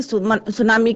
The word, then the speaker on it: tsunami: अब आपको क्लियर हो गया होगा कि सुनामी की डेफिनेशन क्या है। इसमें टी साइलेंट रहता है, जैसे यस्टरडे आई टोल्ड यू।